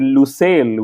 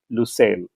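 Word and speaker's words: Lusail: with an o or is it lucel with a u because F1 and teams are using different things and I think I'm using you because that's what I read last that it is lucil no it is lucil isn't it it it is it is Wikipedia says both and I know I'm the only one who reads Wikipedia and Toto wolf probably definitely doesn't so Wikipedia said you and O are both correct if I'm not mistaken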